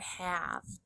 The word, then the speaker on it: have: Our first sight word in the story is the word have. Have is a heart at the end of the word because the E is silent. It doesn't make any sound.